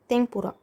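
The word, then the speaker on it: てんぷら: इसके बाद है तमपुरा अब जो ये यहां पे लिखा है इसका उच्चारण होता है लेकिन कई बार उसका उच्चारण भी करते हैं यानी म का साउंड आता है। यहां पे इन्होंने म का साउंड दिया हुआ है।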